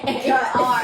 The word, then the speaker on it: Gallagr: There's two A's in the end there. Like bizarre. That's no, like a bizarre, not the word bizarre.